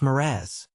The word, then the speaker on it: mirage: "Mirage is pronounced Miraz," said Valency shortly, picking up her tea and her beans.